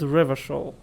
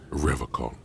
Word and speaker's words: Revachol: But apparently he pronounced it with a hard K, so Revachol.